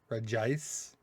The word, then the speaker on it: Regice: Regice. Even though it's Reggie, it's Regice. On this one, there's no extra I.